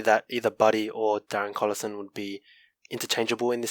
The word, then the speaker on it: Collison: Collison, yeah.